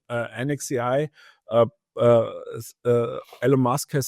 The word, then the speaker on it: NXAI: have yeah and so nxai is that how you're pronouncing it or do you call it NEX AI or yeah uh we are not sure until now we call it anex AI uh uh El mask